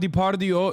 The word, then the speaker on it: Depardieu: I said Depardieu. That was a very Turkish moment. Gerard Depardieu is how you say it in Turkish.